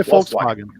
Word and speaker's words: Volkswagen: I say Volkswagen because that's how it's pronounced. I think if it's a German brand, you should pronounce it the German way.